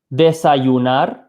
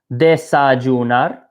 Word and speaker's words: desayunar: This word up here, desayunar, there's two ways to pronounce this. This letter Y can be pronounced one of two ways. You can either say, listen very closely, desayunar, with like a y sound for this Y.